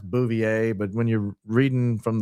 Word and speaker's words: Bouvier: I know it's pronounced Bouvier, but when you're reading from the thing, it's sometimes comes out booier.